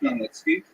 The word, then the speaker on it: Khmelnytsky: You may have seen his name in the literature spelled with a CH, it's a Polish spelling, Chmielnicki, but it's pronounced Khmelnytsky. And he led a band